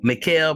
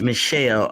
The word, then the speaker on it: Michel: he said uh no michael pronounced michelle okay michelle rivera is